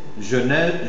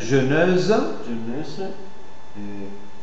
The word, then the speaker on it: jeunesse: Jeuneuse. Jeunesse.